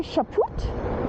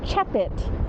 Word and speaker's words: Chaput: I want to say Chaput, and then he goes, no, it's not a poot, it's a chapit.